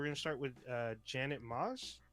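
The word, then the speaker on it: Maus: start with uh janet moss i believe that's how you pronounce her last name is spelled m-a-u-s uh she worked on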